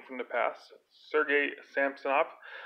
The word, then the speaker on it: Samsonov: from the past Sergey Sam stop I don't get why they pronounced at least like goaltender who has the same last name Sampson off it just sounds really weird Sampson off that's but I grew